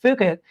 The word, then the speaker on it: Phuket: And the biggest thing about it, and people don't know, so even though it's pronounced Phuket, it actually persuades people to say fuck it more, right?